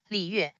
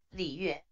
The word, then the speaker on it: 李月: When a circumstance emerges, When a word with the third tone is followed by a word with a fourth tone, the third tone is pronounced in half.